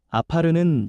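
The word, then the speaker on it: עָפָר: 먼저 여기서 흙이라는 말은 히브리어 발음으로 아파르입니다. 아파르는 연약하고 쉽게 부서지는 존재를 뜻합니다.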